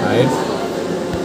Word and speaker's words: RAID: Nah, ini bacanya RAID.